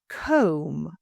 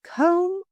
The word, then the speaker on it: comb: Comb, as in market research, combing through data. It's comb, not comb.